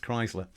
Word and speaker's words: Kriesler: e around so although it's spelt kriesla it's pronounced chrysler and you'll see that the dial markings are